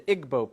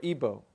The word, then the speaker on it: Igbo: in nigeria you have the igbo people or ibo pronounced either way there's 40 million of